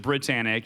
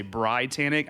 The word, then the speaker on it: BriTANicK: so i don't know why yeah so everyone pronounces it britannic even though the eye is supposed to be